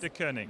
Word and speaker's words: Deceuninck: Pronunciation of your business. Deceuninck, yeah.